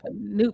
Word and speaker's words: Noop: Did I say it right? Noop. Yeah, you got it. Noop.